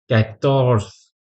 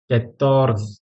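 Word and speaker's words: quatorze: phrase next है 14 कैथस कैथस कर्स कतो यह आर को प्रोनाउंस करने का तरीका थोड़ा अलग होता है उसे की तरह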